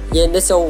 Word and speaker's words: Zenitsu: Anh tên của cậu được phát âm là zantetsu với thêm tiếc là su kéo dài ra thay vì nhấn mạnh là Zen Zen EXO anh tóc